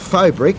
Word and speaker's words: faux: cost um stamp concrete which is called fob the trade name is FOB and that's spelled faux which is a French word for false false brick from CCI